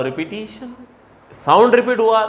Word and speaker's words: repetition: Spelling बराबर देखो जरा रिपीटिशन का, बहुत ज़्यादा बच्चे रिपीटेशन का स्पेलिंग अलग लिखते हैं, उसका प्रोनाउंसिएशन है रिपीटिशन। What is that, रिपीटिशन, ध्यान में रखना है, प्रोनाउंसिएशन क्या करना है, रिपीटिशन, नॉट रिपीटेशन।